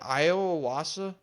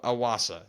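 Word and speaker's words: Iwasa: our friend I think is it Iowa Wasa I actually don't know know how to say his name uh aumu aasa that's right aumu aasa who is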